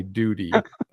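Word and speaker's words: Doody: just so you know it's spelled d-o-o-d-y duty but it sounds like duty you guys don't know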